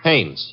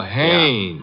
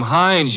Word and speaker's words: Haines: Haines. H A I N E S. Ah. Oh, Haines. Yeah, do you know him? Well, his your full name Hines, used to No, no, no, not Hines.